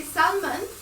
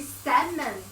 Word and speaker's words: salmon: other day someone told me i am i pronounced it wrong because i always say salman and that person tell me no it should be salmon the owl should be uh uh silent too